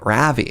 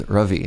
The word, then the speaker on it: Ruvie: You're like, "You're pronouncing my name Ravi." I'm like, "Yeah." And he's like, "My name is Ruvie." I was like, "What? What's the difference?" He's like, "It's like it's like pronounce it with a U." I was like, "Ruvy?" And he's like, "Oh my god, no, that's worse."